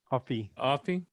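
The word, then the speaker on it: Offee: Offie.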